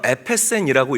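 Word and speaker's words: ἔπεσεν: 땅에 엎드어져 들으매 소리가 있어 이르시되 사울아 사울아 네가 어찌하여 나를 박해하느냐 하시거늘 자 땅에 엎드려져이 헬라어로 에페센이라고 읽고 발음하는데이 땅이 엎드려졌다라는이 에페센이라는 단어는 깨지다 부서지다라는 의미인 거예요.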